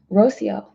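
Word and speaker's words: Rocío: Rocio is how you pronounce my name.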